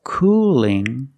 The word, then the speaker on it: cooling: let's hear the difference cool has a dark L at the end but cooling has a light L do you hear the difference cool cooling Cooling not cooling but Cooling the tongue is straighter the tongue is straighter and thinner it's not expanded at